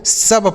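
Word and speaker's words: sub: बी लिखा है दोस्तों इसे आपको शुभ नहीं पढ़ना है शुभ गलत उच्चारण हो गया है इसे आपको सब पढ़ना है ठीक है सब जैसे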